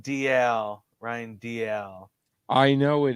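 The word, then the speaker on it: Dalziel: love this part ryan desal dl that that said you say that dl yes ryan dl you do not pronounce the z we've been we've been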